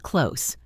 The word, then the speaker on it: clothes: In the word clothes, we often say it like close.